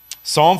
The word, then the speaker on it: Psalm: your way there um just don't forget about that silent P at the beginning right um Psalm 51 is one of